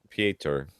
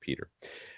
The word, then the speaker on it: Pieter: Pieter, who last week we call him Pieter or something like that, because he's got it, but he says it's just pronounced Peter.